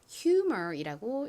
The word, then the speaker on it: humor: H가 히읗 소리 나죠? 그리고 U는 U 소리, M은 미음 소리, OR은 소리 나서 humor이라고 읽습니다. 한국식으로는 이 단어를 유머라고 읽죠.